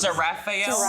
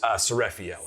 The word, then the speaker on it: Seraphiel: I- But then it's I wrote- Seraphael. Sariel. Yeah, I think I said it wrong the first time, but it's Seraphiel.